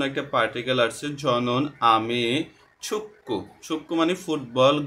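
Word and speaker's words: 축구: Particle আসছে, ঝনুন আমি ছুক্কু, ছুক্কু মানে ফুটবল, গিয়ক বা চিমের পরে যদি আবার গিয়ক আসে তখন তাকে সাংগিয়কের মতো উচ্চারণ করা হয়, অর্থাৎ কয়ের মতো উচ্চারণ হবে।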